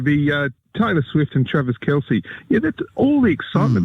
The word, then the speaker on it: Kelce: for some reason he's got some fetish with Taylor Swift and Travis Kelch. Is that how you say it, Harold? Yeah, it' be Taylor Swift and Travis Kelce.